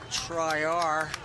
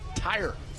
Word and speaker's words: Tyre: Coletti and Triar. Is that correct pronunciation, Booker? Number 20. Tyre, yeah. Tyre. Tyre. Excuse us. tire.